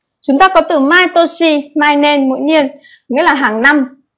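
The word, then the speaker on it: 年: Chữ niên này chúng ta sẽ thấy có cách đọc là nên hoặc toshi, bộ can.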